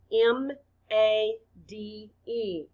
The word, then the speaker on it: made: spell it out loud m a d e the letter a stands for the long a sound a the e is silent blend with me made